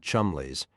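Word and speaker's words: Cholmondeley: Just chundly stealth. Penny used the proper English pronunciation. Chumlies.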